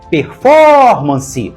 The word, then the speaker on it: performance: cuidado com o seguinte performance tem quatro sílabas e a mais forte é for performance então a palavra é